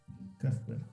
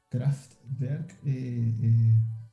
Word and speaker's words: Kraftwerk: Kraftwerk, está bien pronunciado. De hecho, Kraftwerk.